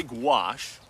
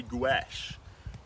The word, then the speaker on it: gouache: gouache you can say gouache which is the way the French say it one syllable gouache or you can say gach gash is the American way two syllables goo Ash um I'm New Zealander